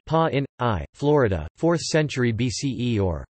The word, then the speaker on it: Pāṇini: Pāṇini, pronounced pa in I, Florida, 4th century BCE or 6th to 5th